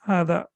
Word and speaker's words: هذا: And you know that there is a small alif basically over here, which normally in modern standard Arabic they don't write over here. So basically this alif is over here. That means it equals 2 harakat. So it is, we prolong it for 2 seconds.